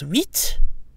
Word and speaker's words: huit: So in summary, that gives us huit, huit vers, huit amis. So again, the final T is pronounced when 8 is alone or followed by a vowel. When followed by a consonant, the T is silent.